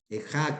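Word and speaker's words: איכה: El famoso término ejá en el hebreo, ejá, que es como se pronuncia el nombre lamentaciones en el hebreo.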